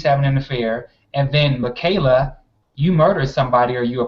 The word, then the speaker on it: Michaela: uh with uh with malaika is it malaika malika i also want to say her name wrong um it's uh michaela pratt michaela thank you michaela pratt so she